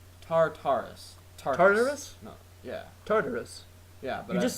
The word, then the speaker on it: Tartarus: Tartarus. Yeah, but You just said TARDIS. I know, but I've heard it pronounced just TARDIS. Like Whatever. they skipped the syllable I heard. or whatever. I think it's Tartarus.